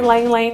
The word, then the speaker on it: ylang ylang: know how to say Lane Lane because it's like yl ang but it's actually lately don't pan out the water Y is silent so we're gonna add